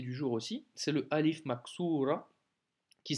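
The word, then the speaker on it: ألف مقصورة: Petite nouveauté du jour aussi, c'est le Alif Maksura, qui s'écrit comme ceci, tu te souviens, hein, mais sans les points. Et ça se prononce comme un A de Alif.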